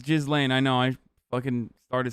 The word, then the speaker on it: Ghislaine: Yeah, it's Ghislaine.